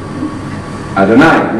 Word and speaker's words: Adonai: You all know about Adonai because it rhymes with El Shaddai.